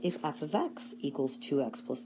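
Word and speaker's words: f(x): say y equals 2x plus 3 this is pronounced f of X it's another way of writing around Y the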